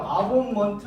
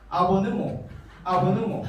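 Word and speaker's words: Abonnement: 이거 어떻게 발음? 아본먼트 맞아? 저 독일어는 못하기 때문에 아니더라고. 이 발음이 아보느모 이러더라고요. 여러분 따라해 보시겠습니다. 아보느모. 이렇게 복잡하게 하실 필요는 없고 아보만 생각하시면 돼. 이게 이제 독일어 본토식 발음이더라고요. 아보느모.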